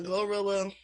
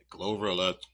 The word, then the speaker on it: GloRilla: uh Gorilla and uh say it like that Glorilla cuz she was being shady to the I know.